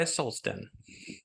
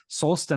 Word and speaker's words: Solsten: break down the word, and I'm pronouncing it with an American accent here, I'm not pronouncing it in a Swedish or a Icelandic accent. But if you say soul, it has that word human, that soul, and then sten, stone.